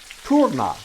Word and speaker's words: Turner: Now you think, well, that's just Turner Hall, and that is, named after someone named Turner. But if you thought that, you would be wrong, as I was. It's actually pronounced Turna. It's a German word, and it comes from